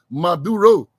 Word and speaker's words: Maduro: And there was a worrying statement coming out of Caracas yesterday from the Venezuelan President Nicolas Maduro. Emphasis on the fourth syllable, Maduro, Nicolas Maduro, and his defense minister.